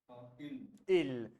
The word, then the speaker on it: ils: Ill. So you see, Ravindra, that S is not going to be pronounced. So it is going to be ill, which means velog, they, They.